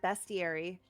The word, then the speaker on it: bestiary: uh in my video I said the word bestiary cuz that's the actual pronunciation of that word but so many people